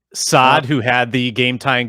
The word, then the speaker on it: Saad: number 20 is uh brandon saad is how you say yes saad who had the game